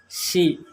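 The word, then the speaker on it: 三: China ভাষা শিখতে আমাদের চ্যানেলের সাথে থাকুন, সাবস্ক্রাইব করুন।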